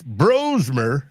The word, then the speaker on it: Brosmer: JJ or the Max Brosmer and it's pronounced bro and not bras.